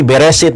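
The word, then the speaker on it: בראשית: Ayatnya itu tidak berbunyi eh resit tapi beresit.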